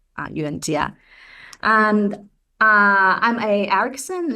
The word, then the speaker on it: Yuanjia: The key to pronounce my name is the letter J. I realized this you know recently because um in most of the language the letter J you pronounce as J but uh in Chinese the J is G.